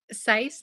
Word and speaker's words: Sice: Sice like rice. Like rice, sice.